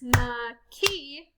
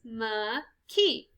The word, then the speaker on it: McKee: name is miss mckee so if i said miss ma key there are three syllables there miss ma ki so we're going to